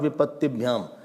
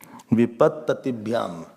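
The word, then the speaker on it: विपत्ततिभ्याम्: It is not Vipatibhyam. It is not Vipat. Most of the people pronounce this wrongly. Vipatibhyam. Vipattatibhyam.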